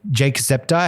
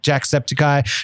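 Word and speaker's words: Jacksepticeye: we've got uh Jake Jake septi how do you say it um Jack sepy Jack sepy sorry that's how you say Jake Jack sepy Dodger coffee Carlin Brothers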